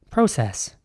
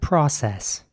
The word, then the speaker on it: process: c e double s in british english this would be pronounced process of the unfreezing process and in american english it would be more like process with an ah sound process we're starting a